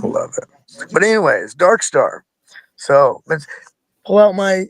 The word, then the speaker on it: Dvrkstar: episode what's up so is your name pronounced Darkstar yes it is it is pronounced darkar awesome good to know